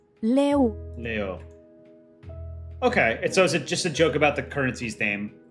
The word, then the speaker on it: leu: The currency sounds like lion. They don't use euro. Okay. How do I pronounce it? Let's see. Leu. Leo.